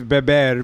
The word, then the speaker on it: beber: Yeah, well, to drink is beber, B-E-B-E-R, and baby is B-E-B-E.